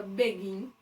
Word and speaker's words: begin: Quando eu falo a palavra begin, qual é a sílaba tônica aqui? O gin, né? Begin.